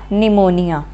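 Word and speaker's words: pneumonia: पी यहाँ पर silent हो जाएगा, निमोनिया।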